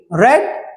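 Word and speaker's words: read: तीनों फॉर्म में कट कट cut cost cost cost एक और होता है रीड जो आप पढ़ते हो लिखने में सेम रहेगा। बट व्हेन वी प्रोनाउंस तो ये डिफरेंस हो जाएगा। क्या आएगा? रीड रेट रेट।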